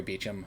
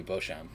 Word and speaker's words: Beauchamp: myself that's probably fair i was probably hitting the p on the end a bit too hard and then they dropped